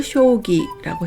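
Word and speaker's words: 将棋: 다 쇼라고 읽습니다 장수장은 쇼라고 읽어서 장기를 쇼기라고 했고 장군도 쇼군이라고 했죠 꿈일장은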